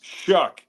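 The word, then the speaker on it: Shough: It's Shook. Even though it's like O U G.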